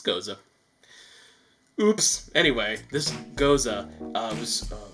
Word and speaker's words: Gose: and by the way, I used to pronounce it Gose, but then I heard someone say Gose, and I'm like, why are you being pretentious? And they're like, no, it's Gose.